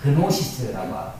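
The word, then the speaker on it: γνῶσις: 그노시스라고 하고 앞에 G자를 띄면 묵음으로 읽기도 하는 것입니다.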